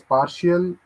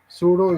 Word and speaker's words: pseudo: I'll explain anyone else Shiva says partial no it's not partial uh Sudo is this p is silent this is what I